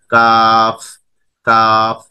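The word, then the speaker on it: كاف: কাফ হরফ উচ্চারণের স্থান হচ্ছে জিহ্বার গোড়ার কাছাকাছি একটু উপরে ও সেই বরাবর উপরে তালুর সাথে লাগিয়ে উচ্চারিত হবে কাফ কাফ, এটা হালকাভাবে উচ্চারিত হবে।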